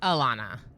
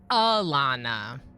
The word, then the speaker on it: Alana: an emphasize vowel to like a deemphasized bowel making it aana which I don't mind because it's very close to my name and they're just deemphasizing the first vowel that name I would pronounce Alana darl um so sort of what I was saying Alana right deemphasizing the E to an uh sound Alana Alana